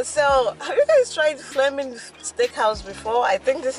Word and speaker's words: Fleming's: fleming fleming fleming okay at fleming's steakhouse flamin flaming yeah flame as in flame right well it's spelled fleming f-l-e-m-i-n okay so it's flaming steakhouse if you guys know anything about flemish steakhouse but with my accent i would call it fleming yes it's crazy yeah